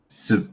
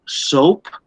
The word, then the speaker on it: soup: cooking, Yeah, cooking and pronunciation for this is soup. soup. Okay. Yeah, because if you say soap, soap is, for example, Palmolive, Zest, these different brands.